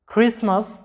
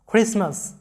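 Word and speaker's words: Christmas: বড়দিনের উৎসব, তো এই ক্রিসমাস শব্দটা লক্ষ্য করো, CRI উচ্চারণটা কি হয়েছে? খ্রি। তারপরে এস, ক্রিস, টি এর উচ্চারণটা এখানে সাইলেন্ট আছে, MAS, মাস, ক্রিসমাস, ক্রিসমাস, এরকম সাউন্ডটা হবে, ক্রিসমাস।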